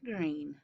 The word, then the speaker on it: Greene: name is gundy bird green that's green with a silent e at the end and i just moved